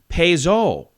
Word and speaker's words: Peugeot: Peugeot, or however you say it, is actually Peugeot.